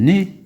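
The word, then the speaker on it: nez: دونك هنا او زد كتنطق اي، او زد بحال مثلا لو ني، لو ني والانف. لو ني الا لاحظتوا كتكتب او زد، ولكن ما كنقراش ناز، كنقراها ني، كتكتب ان او زد وكنقراوها ني.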